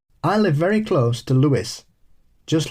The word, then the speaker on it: Lewes: I live very close to Lewes, just like the town in England. The pronunciation is a source of confusion for newcomers who don't understand it's the UK English pronunciation.